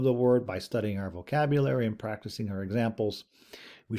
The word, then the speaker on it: vocabula: Okay, so here we have our vocabula. Remember, classical Latin didn't have a U, so sometimes that's what the V is here, but of course in English we would say it's pronounced like a U, vocabula.